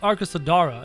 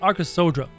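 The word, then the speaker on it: Arkasodara: sodra there it is so it's not the arc of sedara it's arca sodra there i was asking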